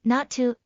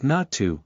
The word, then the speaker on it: not to: So does that mean not to and not are pronounced the same? Not exactly. In not to, the t in not practically disappears and the following to is pronounced relatively strongly.